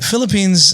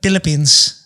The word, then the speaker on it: Philippines: I mean, Philippines is fine, but Filipinos would be like Philippines. They wouldn't even pronounce the F.